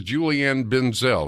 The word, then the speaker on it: Julianne Benzel: With me is Julianne Benzel. Am I pronouncing your name, ma'am?